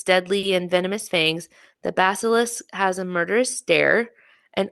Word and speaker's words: basilisk: none more curious or more deadly than the Basilic. Is that how you say it? Basilic. Basilisk.